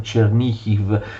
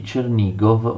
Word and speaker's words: Chernihiv: Olgovici, che forse ricordate erano i signori di Chernihiv, secondo la pronuncia ucraina. Alla morte di Yaropolk, che cosa succede? Vsevolod Olgovich occupa Kiev, quindi succede che gli Olgovici di Chernigov vanno a governare a Kiev.